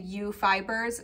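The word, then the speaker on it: Ewe Fibers: Otherwise, I have ordered online from Fancy Tiger Crafts and U Fibers, spelled like the sheep, E-W-E.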